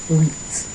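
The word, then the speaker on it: huit: Wheat. Like wheat bread. Wheat.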